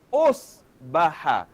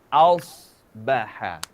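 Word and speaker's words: أصبح: Kita tak baca os, osbaha. Tapi kita baca aos. Aos. Aus. Ya, ejaannya ialah aos. Ausbaha.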